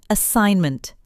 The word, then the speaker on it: assignment: Look at assignment. We say assignment. The G is silent.